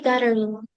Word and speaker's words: gathering: Friendly gathering. ¿Cómo se dice? Friendly gathering. Gathering. Gathering. Ajá, ese TH es como si fuera D. Gathering.